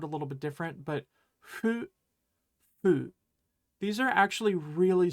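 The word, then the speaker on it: ふ: little bit different, but fu, fu. These are actually really similar sounds in Japanese, so be prepared to hear it either way, like hu or like fu, right?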